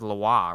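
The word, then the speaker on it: Lewa: mata affairs name um I think it's lawar right mm-hmm emphasis on the wah thank you all so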